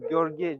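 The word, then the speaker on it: Gheorghe: My name is spelled Gorgi. G H E U O R G H E. But you don't have this sound in English.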